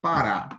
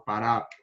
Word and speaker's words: Pará: Paulo Pará né Paraíba o Pará por exemplo é uma palavra oxítona por quê Porque como a gente tá vendo aqui ó o acento agudo ele tá vindo na última sílaba na última Então ela é considerada